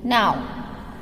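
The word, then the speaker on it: gnaw: G-N-A-W, now. G is silent.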